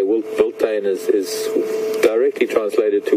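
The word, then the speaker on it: wildtuin: of South African word mentioned the word is volain this is the way it's pronounced but it's it's written if I had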